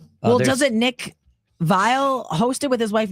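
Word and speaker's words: Viall: This show's called the Vile Files cuz it rhymes. It's not Vial Files.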